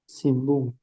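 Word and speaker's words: 新聞: Tapi cara bacanya gimana ini kalau ngobrol? Simbung. Heeh. Simbung. Belakangnya juga eng. Kayak kita bilang ngantuk gitu kan.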